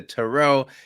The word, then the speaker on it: Tyrrell: can we tell you how it's Terrell and Meryl actually which is very wonderful because I have a terribly hard to pronounce name it's Irish and people always think I'm a guy and now that Meryl and I have been in Partnership together I'm just like oh it's Terrell and Merrell and people instantly get it um so just so